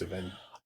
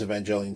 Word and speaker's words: Evangelion: Times I wish I just have never heard of Neon Genesis Evangelion. You know, I don't... That hard G sounds wrong to me.